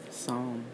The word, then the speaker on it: Psalm: So the P is silent.